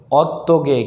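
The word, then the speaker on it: 어떻게: অত্যগে হিউদ বাচ্চা থাকলে উচ্চারণ হবে না সঠিক উচ্চারণ হবে অত্যগে কিভাবে কিভাবে আসলেন কিভাবে যাবেন অত্যন মানে কোন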